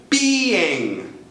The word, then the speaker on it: being: ing do mesmo verbo Being Being E aí temos duas sílabas não só uma como nos casos anteriores dá uma olhada aí